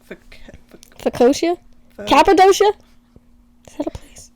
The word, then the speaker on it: focaccia: Fiocia? Focaccia?